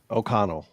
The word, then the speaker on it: O'Connell: What'd you call So, him? O'Connell. O'Connell. It's Sorry, I thought he said I said O'Donnell. O'Donnell. Okay, I He meant said to say O'Donnell. I said it wrong.